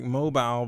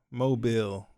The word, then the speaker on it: Mobile: I know it's spelled like mobile, but it's like Mobile.